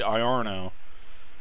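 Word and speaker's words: Iarno: are no is well it's instead of Lorna we actually I are no in the module out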